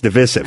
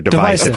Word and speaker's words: divisive: divisive, but now it's devisive. I didn't know that. I didn't know that either. I don't like But it should go back to divisive. It sounds like divide. That's the word we know.